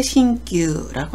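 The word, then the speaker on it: 新旧: 신구, 새 것과 낡은 것을 표현할 때 신규라고 합니다.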